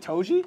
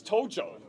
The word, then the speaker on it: Tojo: Just to let you know, you got her last name wrong. Is it Toji? It's Tojo. Oh no.